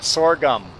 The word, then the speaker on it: sorghum: exactly like that marca sorghum that's how that's how people are pronouncing this i i had to look it up as if you have sore gums you need to brush